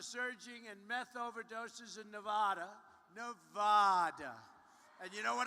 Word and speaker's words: Nevada: I came out here I said nobody says it the other way it has to be Nevada right and if you